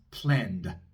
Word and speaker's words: planned: Si lo decimos en tiempo pasado, decimos planned, planned. Termina en ND. Como la D sonora, pronunciamos una pequeña A después, muy cortita.